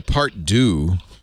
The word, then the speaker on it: part deux: He did a part deux. I'll pronounce it right because Manu's here.